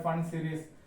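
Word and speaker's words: Pfund: you call it as fund series. P is silent here, it is called fund series.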